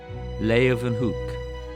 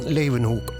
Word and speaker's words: Leeuwenhoek: L-A-Y, lay, u, then, they pronounce it with a V, hoek, Leeuwenhoek. Antonie van Leeuwenhoek.